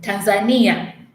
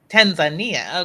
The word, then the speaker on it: Tanzania: we have been taught to call your country Tanzania but you are definitely saying it different than I am and how do you pronounce it oh Tanzania Tanzania okay I because I feel like I've been